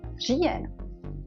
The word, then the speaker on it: říjen: Now let's look at R in the beginning of the word, like říjen, October in Czech.